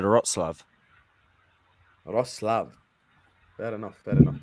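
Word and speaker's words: Wrocław: Isn't it Warclad? No, I thought it was, but then I typed in the pronunciation. It said Wroclaw.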